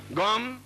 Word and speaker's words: गं: बोलिए ओम गम। अब देखिए मैं म बोला है, गंग नहीं बोला है, गंग नहीं बोलना है, गम बोलना है।